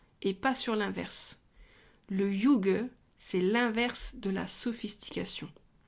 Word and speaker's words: hygge: yug qu'est-ce que le yug alors on dit yug j'ai vraiment cherché la prononciation mais ça s'écrit IG h y de G e c'est danois à la